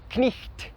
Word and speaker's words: knight: Por exemplo, a palavra knight, cavaleiro, que se escreve como era falado, knicht, e que hoje em dia se fala knight, mas ele preserva a etimologia da palavra.